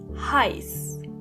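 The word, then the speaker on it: heiß: When you see the letter A and E together, for example, in the last word heist, the sound they make together is I. Heist.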